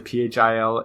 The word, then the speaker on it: Philae: The I think it's pronounced fillet. It's the Philae.